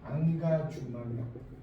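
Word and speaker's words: engagement: 그러니까 결국 이 김수영 시인을 뭐라고 하냐면 안가주망력. 여기 써보니까 안 나오니까 영어로 인게이지먼트. 인게이지먼트는 참여라는 뜻인데 결국 김수영의 시는 이건 프랑스어로 불어 발음이에요. 불어 발음. 이 인게이지먼트를 불어로 읽으면 안가주망력.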